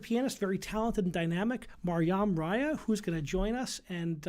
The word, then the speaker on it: Maryam Raya: tonight uh concert pianist very talented and dynamic mariam raya who's gonna join us and uh let's jump right in welcome mariam raya thank you so much thank you so much and perfect pronunciation on the first try of my name